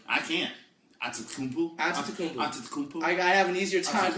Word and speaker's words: Antetokounmpo: Antetokounmpo. I have an easier time with Antetokounmpo than I do... But, it's not Boo. It's not Boo. Bo. It's not Boo. Antetokounmpo.